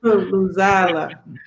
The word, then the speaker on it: Luzala: There's no long vowel. Luzala. Luzala. As soon as you put the long vowel, you pronounce the long vowel, it is a different meaning.